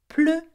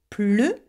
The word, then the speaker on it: pleurer: So the difference is that in the infinitive, you pronounce the E, E, but when you conjugate it, you pronounce it er. Why? Because it has an open sound at the end, okay?